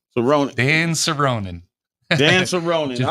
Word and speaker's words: Soronen: And the name is pronounced Soronen. Soronen.